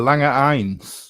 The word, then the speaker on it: Lange 1: You pronounced it with its natural name, the Lange 1.